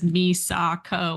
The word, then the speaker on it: Misako: you can see it it's spelled like I've got Japanese copies like it is spelled perfectly plainly at the beginning of the book you know character introductions like this is Mama Misako Kara and it says Misako like there's no other way to read it I don't